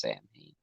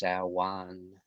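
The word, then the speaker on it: Samhain: I know it's not pronounced like Dr. Loomis said it's Sam Hain. I think it's Sawan, something like that. The actual pronunciation.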